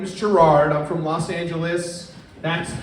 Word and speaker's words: Gerard: I prefer it than Jared or Gyrad. Gyrad happens. Yeah. How do you say my name? Me? Yeah. Gerard, like, because that's J-I-R-A-R-D. It's Gerard, like, it's very straightforward.